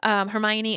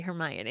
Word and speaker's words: Hermione: listening into everything that's going on fun thing hermione and crum are sitting down and she's explaining